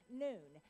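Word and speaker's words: נון: uh letter and that letter is is just pronounced noon and so i always i i get off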